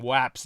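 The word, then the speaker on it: UAP: oblong-shaped you you well they call them waps now uh to rhyme with Japs which is part of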